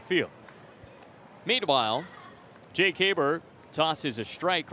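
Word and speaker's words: Haberer: Haber, number 44, spells his name H-A-B-E-R-E-R, but pronounced Haber.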